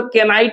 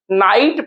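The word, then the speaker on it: knight: आई जी एसटी नाइट इसको तो के नाइट नहीं पढ़ेंगे इसको भी हम लोग क्या पढ़ते हैं नाइट पढ़ते हैं नाइट में सर ये जो इसको भी तो नाइट पढ़ते हैं उच्चारण प्रोनंसिएशन तो नाइट है ये के तो साइलेंट हो गया ना वही चीज हमको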